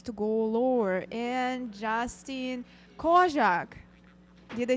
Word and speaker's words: Kozak: And Justin Kozak, did I say it right? Say it again. Kozak?